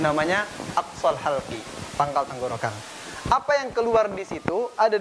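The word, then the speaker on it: ء: Hamzah ketika disebutkan pita suaranya tertutup.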